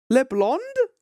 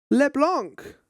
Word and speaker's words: Leblanc: How did you pronounce it? Could we all meet up at LeBlanc tomorrow? LeBlond? LeBlanc.